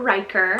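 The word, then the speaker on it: Ryker: We have the trendy name Riker, spelled R-Y-K-E-R, Riker.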